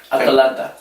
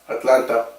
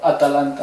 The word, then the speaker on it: Atalanta: Atalanta. Atlanta. No, Atalanta. Well, my pronunciation, I mean No, because you're saying Atlanta. That's like Atlanta United.